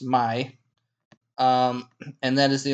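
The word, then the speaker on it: ໃໝ່: spelling for in La that means new uh is pronounced my um and that is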